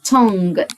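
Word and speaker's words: tongue: اذ وردز كلمات تانيه لسان يعني تونج تونج تونج حرف اليو والاي في الاخر لو لاحظنا ان احنا ما نطقناهمش يبقى التونج وقرفنا على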